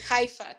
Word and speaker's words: Haifa: aifa Alfa se pronuncia haifa Tú sabes que la H se pronuncia como J en española hia en Google hii